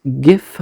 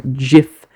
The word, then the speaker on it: GIF: once and for all whether it is pronounced GIF with a hard G or GIF with a soft G in less than five